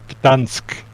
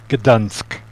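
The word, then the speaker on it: Gdańsk: it's Gdansk. Gdansk.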